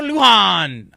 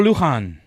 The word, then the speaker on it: Lujan: Poncho Lujan. I think I said it right. You probably Lujan? fucked that up. No, you don't say the J. The J is silent.